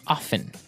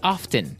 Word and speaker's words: often: Now with pronunciation, some people like to pronounce often, right? They kind of leave out the strong T sound. Well, other people say often.